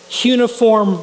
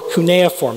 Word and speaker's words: cuneiform: And he specialized in studying the writing of these people, cuneiform writing, or cuneiform, there's two pronunciations, of writing.